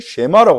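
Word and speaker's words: שמע: 이걸 보고 유대인들은 쉐마라고 합니다. 쉐마라고 하는 말은이 드라는 말의 히브리어 발음이죠.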